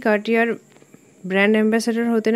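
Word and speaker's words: Cartier: কার্টিয়ে নামটা শুনে নিশ্চয়ই বুঝতে পেরে গেছো এটা ফ্রান্সের কোম্পানি, কারণ এখানে আর সাইলেন্ট আছে।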